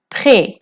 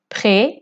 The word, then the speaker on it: prêt: prêt prêt মানে প্রস্তুত হওয়া বা রেডি হওয়া। এখানে টিটা সাইলেন্ট।